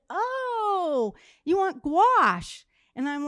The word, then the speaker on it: gouache: was asking, gouache, and I think I was like, Gayote paint. I'm asking the person to help me find, it was like I was trying to pronounce it totally wrong.